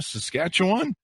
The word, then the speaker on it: Saskatchewan: She lives in Regina, Saskatchewan, with her long-suffering family.